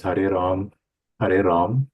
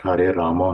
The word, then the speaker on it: Hare Ram: when you chant, it is Hare Ram, not Hare Rama, Hare Rama.